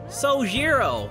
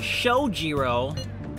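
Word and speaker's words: Sojiro: get out of here so zero not shojiro you pronounced it with a show you're not supposed to do that you put an H in there you gotta you gotta pronounce it with a soul not show alright alright I've known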